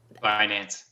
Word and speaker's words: Binance: I can't even pronounce it. Binance.